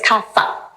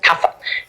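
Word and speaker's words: kapha: By the way, it's kafa ph. It's we spell it ph. We pronounce it kafa in Sanskrit.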